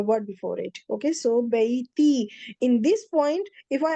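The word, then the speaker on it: بيتي: It's not baytu and ja. We can't pronounce because with two, I can't pronounce the ya. So it's bayti.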